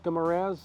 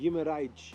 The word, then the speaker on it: Guimarães: Jason, Derek Del Guadio, Helder Guimarães, I hope you pronounced Helder's name right. Guimarães, if you want to say in Portuguese. Guimarães. And I think I still got it wrong.